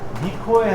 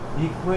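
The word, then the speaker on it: 御声: 이 고자가 오로도 발음하고 고로도 발음하고 미로도 발음하는데 미코에 하면 좀 그렇더라고요. 그래서 이거는 어자를 쓰고 요거 발음을 미로 하는 거죠. 그래서 미코에 니모 하나님의 목소리에서 고자이마스 고자루예요.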